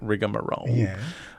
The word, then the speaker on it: rigmarole: I was like, "Oh, has Mariah gone completely unhinged by insisting on pronouncing it rigma roll?" Like, this is too much. But apparently that is how it is spelled and said in the USA.